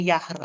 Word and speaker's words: Jahre: So, Herr, kenapa kita bacanya Jahre alt? Ditulisannya Jahre. Kenapa Jahre? So, teman-teman, karena dalam bahasa Jerman huruf J itu dibaca jadinya J atau Y. Gitu ya. Jadi dia itu seakan-akan huruf Y.